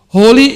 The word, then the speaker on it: Holi: organization and today we bring to you happy holy greetings from the Hindu community on behalf of